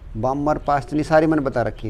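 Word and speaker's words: Balmer: L का मतलब Lyman, ये होती है बामर, इसके अंदर L साइलेंट रखियो, बामर बोला कर रहे हैं, बालमर नहीं बामर।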